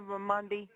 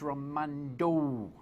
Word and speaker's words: Raimondo: I'll comment more on her stance on abortion if you say her name correctly. Come on, Josie. It's Raimondo.